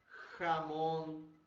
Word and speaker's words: jamón: Não confundir com Ramon, tá, pessoal? Por isso, os dois sons são bem diferentes e têm que ser pronunciados bem diferentes, porque um é presunto e o outro é nome próprio. Então, por isso a necessidade da correta pronúncia do J, tá?